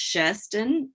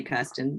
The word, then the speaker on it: Kirsten: Yes, so Kirsten, it's pronounced Sherston in Norwegian, but I say Kirsten because so Kirsten was